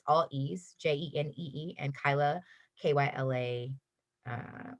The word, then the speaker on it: Kyla: all e's j-e-n-e-e and kyla k-y-l-a uh i always say it's like kyle instead of an e a vagina on the end and people seem to